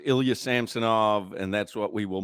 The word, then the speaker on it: Ilya Samsonov: I didn't bother anyway it's now Ilya samsonov so that's his name all right so we're all in agreement Crowder Solana it's Ilya samsonov and that's what we